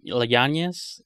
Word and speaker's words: Yáñez: Es que está difícil de pronunciar su apellido, yo creo por eso. O sea, digo, en Estados Unidos, porque allá la ñ no existe ni los acentos. Yep. Y la Y es se pronuncia como L, Yáñez, Yáñez.